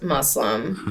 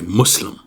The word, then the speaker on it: Muslim: still getting used to saying it with an s m I always said muslim you also say it with like a a I don't know like a rounded you like instead of mus